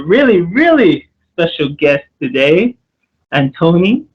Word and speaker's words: Antoni: So yes, hey everyone, it's back again with another collaboration video, and I got a really, really special guest today, Antoni. Antoni, am I saying it right?